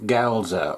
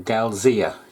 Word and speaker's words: Galzyr: My name's and today you join me in a game of Lands of Galzyr or Galzyr, depending on how you wish to pronounce it.